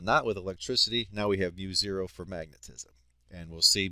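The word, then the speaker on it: μ0: out to be mu0 that's how this is pronounced mu0 I over 2i R and mu0 is the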